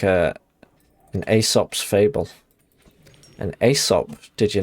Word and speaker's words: Aesop: I mean, I think we mispronounced like a litany of you know, classical words. It was Aesop.